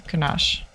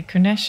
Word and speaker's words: Kunesh: Okay, let me just talk to Kunash. Meet the lads at Kunesh. Okay, sorry, I can't even say his name. Apparently, Kunesh is his name.